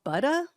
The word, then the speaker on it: Buda: Um, on Monday students at, I guess it's called Buda, looks like Buddha, but I guess it's pronounced Buda, Texas.